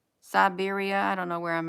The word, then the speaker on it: Siberia: thank you I keep um I keep um pronouncing this thing wrong let me see am I do I got it in Serbia Siberia I don't know where I'm at okay yeah